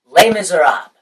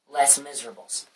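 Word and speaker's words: Les Misérables: on TV and such called lame as Rob or as American amans would try to pronounce it who don't know French less Miserables but that's besides the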